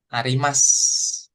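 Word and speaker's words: あります: Kemudian nanti ada huruf su di akhir. Nah, dibacanya dia jadi kayak u-nya tuh enggak kebaca. Oh, iya. Des. Des. Nah, Arimas.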